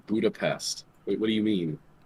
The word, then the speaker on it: Budapest: people pronounce it Nepal Budapest was pronounced with an sh where budapes oh God